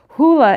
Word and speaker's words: hyle: I had to get advice on how to pronounce this, hula, H-Y-L-E, which means wood, matter, that which is disorganized, cannot be counted, and receives form. So to distinguish hula from, and the Latin term materia, which we